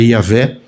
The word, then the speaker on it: Yahvé: Yahé, que é impronunciável, né? E a gente é portuguesa, o, né, por Javé, né, Jeová, mas a palavra é Yahvé, Eloim, Deus, Yahé, Senhor, Eloim, Deus, e Saboquá, Deus dos exércitos.